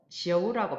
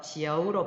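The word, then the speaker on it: 九: 숫자 9는 지어우라고 발음을 하는데요. 지어우의 결합 구조를 살펴보면은 지치시의 지와 아이오유가 결합을 해서 지어우로 발음이 되는데 이들이 결합을 할 때는 아이오유의 오가 자동적으로 탈락을 해요. 아이오유의 특성상 성모와 결합만 하면 가운데 빨갛게 표시되어 있는 오가 탈락을 해요. 하지만 발음은 약화된 채로 남겨 있어요. 그래서 발음을 할 때 지어우 이렇게 발음을 해요.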